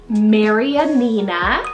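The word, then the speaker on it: Marianina: n a Maran Nina now this one is such a long like Mary an N like it has five syllables it's a longer style name but it's a mixture between like Mary and Nina kind of put together there but it's a Latin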